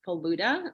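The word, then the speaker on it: falooda: And so there was this one Persian stall, and they were serving faluda, which is Persian ice cream, correct?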